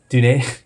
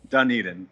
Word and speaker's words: Dunedin: He, uh, he is of the, um, I want to get the pronunciation right. How do you say it? Dunedin. Dunedin.